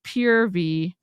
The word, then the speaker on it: Purvii: oh God yeah yeah pervy is what we're calling it apparently it's purv but I'm not I'm not acknowledging that pronunciation it's like um when